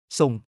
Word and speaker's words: ส่ง: ส่ง 헤어 앤드 앰프. 건축 전문가. 발음. 한국어 송과 비슷하지만 상승조로 송.